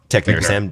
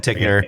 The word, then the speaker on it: Tichenor: Tichenor. Tichnor. H is silent.